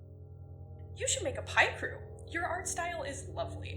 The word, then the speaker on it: Picrew: and suffering today, because I say it Picrew. I'm an American, and that means it's my God-given right to pronounce words as stupidly as I please.